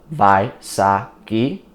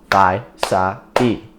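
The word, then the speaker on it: Vaisagi: If we took my last name as an example, Vai-sa-gi, it's got 3 syllables, Vai-sa-gi.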